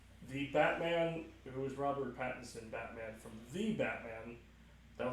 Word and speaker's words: Pattinson: The key Patterson. factor. It's Patterson? Patterson. It's not Pattinson? It's Pattinson.